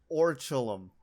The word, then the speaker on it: Orichalcum: So it's called, for me, Oracle-kum. Yes. I believe it's like Orichalcum is how you're supposed to say it, but I agree with you where it should just be called Oracle-kum because it is exactly what it looks like.